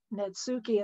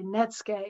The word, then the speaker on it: netsuke: i have to confess even though he mispronounces it as natsuki and then even netscape i have to confess that when i was training my mind to say netsuke instead of nitsuki i thought of netscape if it just left